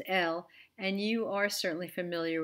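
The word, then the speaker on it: אֵל: foreign for you so the first of this group has the cere the two dots under the aleph it's pronounced l and you are certainly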